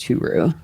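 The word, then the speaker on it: Hyry: was replaced by R2 huru huru which is a fun name to say it is his last name is spelled h y r y but it's pronounced huru yeah we saw him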